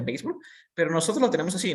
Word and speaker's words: béisbol: en inglés es baseball se escribe béisbol se pronuncia béisbol pero nosotros lo tenemos